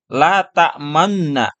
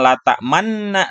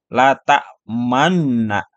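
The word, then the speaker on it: تأمنا: nah l tamna ya l tamna ini dibacanya la tamna sambil agak memoncongkan bibirnya ya jadi la Tana Kalau ditulis itu pada ayatnya Manna ya mim kemudian Nun bertasdid nah tetapi dibacanya itu la tamna jadi agak memoncongkan bibirnya La tak Manna jadi jangan l tak Manna tapi La tak mannaah di sini ikhtilas ya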